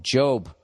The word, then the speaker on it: Job: bring up up the book of job huh look at that i said it right i didn't say job job which reads as a